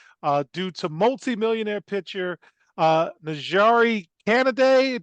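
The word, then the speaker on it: Canady: to multimillionaire pitcher Najari Canaday. Did I say it right? I think it's Kennedy, but yeah, All right.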